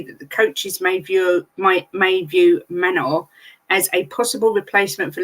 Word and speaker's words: Manor: That's apparently how you say it, Manor.